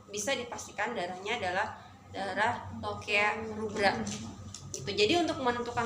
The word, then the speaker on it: lochia: Ya, walaupun tulisannya lochia, dibacanya adalah lokea.